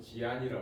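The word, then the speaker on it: 集安: 저쪽에 그 암동관 건너편의 집안 중국 발음으로 지안이라 그러는데 거기가 보시면 우리 관계토 할아버지가 그냥 그 만주당을 호병하서 그런게 다 있어요.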